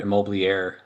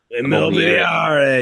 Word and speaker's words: Immobiliare: are attached with the corporate immobilier. Immobiliare. You gotta say it right. Immobiliare.